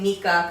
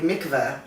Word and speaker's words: Mikah: I need to ask where does the name mica come from and I get am i pronouncing it right yes okay it's very funny because a lot of people ready to mikvah oh it was like